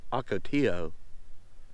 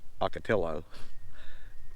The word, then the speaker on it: Ocotillo Wells: pronounced this place is I don't think I pronounced it right it's Ocotillo not Ocotillo Ocotillo Wells and it's a California State vehicular Recreation